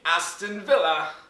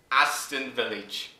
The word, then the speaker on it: Aston Villa: me get this straight this man is pronouncing aston villa aston village ah i swear to